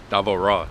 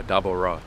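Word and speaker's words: Devorah: Davo Ra. That's how you say it in the Hebrew. Yeah, Dabo Ra. It's Deborah or Dabo Ra, like that's for B.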